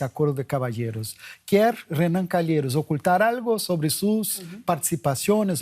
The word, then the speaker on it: Calheiros: del Senado, cuyo nombre no me atrevo a pronunciarlo en portugués, si me ayuda. Calheiros. Calheiros.